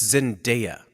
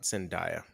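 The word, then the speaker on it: Zendaya: my little machine yeah it's Zinda not zindia um uh Third Base um I'm pronouncing it no I'm just I'm just it's for everyone's edification I didn't know I thought it was Z Dia yes she's yes she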